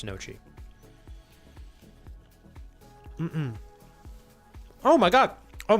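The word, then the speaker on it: gnocchi: I used to call it gnochi, but I think it's nochi.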